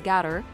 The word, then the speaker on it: Gato: own multi-model model named gato which means cat in Spanish and can also be pronounced as gather what makes this particularly